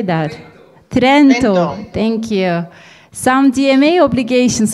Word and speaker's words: Trento: we have question from simonetta sorry for the pronunciation university of toronto trent tyrant how would you say that trento thank you some dma obligations sorry for i